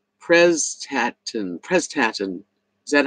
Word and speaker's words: Prestatyn: Okay, Patricia said it's pronounced Prestatyn.